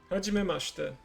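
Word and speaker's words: はじめまして: Okay, let's do it by syllable. Ha, Ha. ji, She. me, Me. ma, Ma. she, She. te. Te. Hajimemashite.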